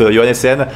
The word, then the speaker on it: Johannessen: Et donc, comment on prononce Johannessen.